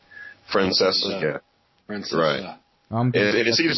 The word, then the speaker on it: Francesa: gripe with this Francesa it's Francesa guys the sea is silent it drives me crazy when people can't pronounce names right Francesa Fran it seems like